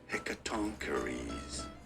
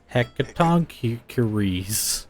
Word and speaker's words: Hecatoncheires: Hecaton Curie's pronunciation. mythology. How do you say it correctly? Hecatoncheires. Hecatoncheires.